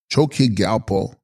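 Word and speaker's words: Chos kyi rgyal po: Text Choski Gyalpo, pronounced Choki Gyalpo, Sanskrit Dharma Raja.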